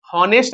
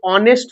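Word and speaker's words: honest: ठीक है, यहाँ पे आप देख रहे हैं ही इज, यहाँ पे हॉनेस्ट नहीं पढ़ेंगे, ये ऑनेस्ट होता है, क्या होता है, ऑनेस्ट।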